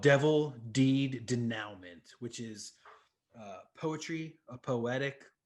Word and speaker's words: denouement: with called Devil Deed Denouement, which is poetry, a poetic song lyrics with a refrain with art by Ashley Wood. You might want to let's get the pronunciation on. That's a French word.